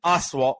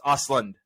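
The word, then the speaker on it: Östlund: field for tar or Reuben Oswalt for triangle of sadness or it's ausland everything everywhere everything times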